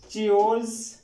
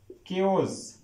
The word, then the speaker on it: chaos: अब ये वर्ड चियोज, चियोज नहीं स्टूडेंट्स, ये वर्ड है कियोज, कियोज, कियोज।